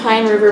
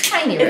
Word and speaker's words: Piney River: From Pine River Brewing. She likes to lick the can. Yeah. Or Piney River. I said Pine River. Piney River. It's Piney River, which is in, I can't remember how to pronounce it again.